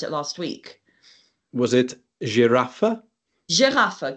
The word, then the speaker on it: Giraffe: sometimes around the country you'll hear in certain parts of it the word pronounced as giraffa not girafa but the point is